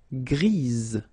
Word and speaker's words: grise: Okay, Gris, don't pronounce the S, but then for the feminine form, grise. Remember? Grise. Alright? So when you add this E, basically it gives you the pronunciation or the possibility to pronounce the previous letter here. It's Z. Grise.